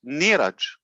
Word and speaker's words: Neeraj: So he likes Niraj. Okay. Niraj. I've always called him Neeraj. Yeah. Always called him Neeraj. His Indian pronunciation is Neeraj.